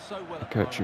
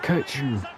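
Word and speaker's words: Kökçü: I feel like Kochi's the correct way of pronouncing it from what I've heard.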